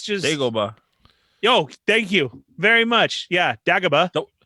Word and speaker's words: Dagobah: I think I even saw them say a name wrong. It's just Dagobah.